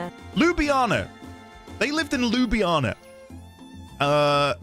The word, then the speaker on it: Ljubljana: How do you pronunciation? Ljubljana. Ljubljana.